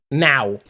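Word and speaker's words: não: Like it's in my head now. I can't escape it. Yeah. Now, Nisa. Now. It's like now, but now. You have to kind of get that W at the end.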